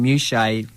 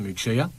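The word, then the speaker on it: Muchea: They will now take on Muchet in the grand final at home. I believe it's pronounced Muchia.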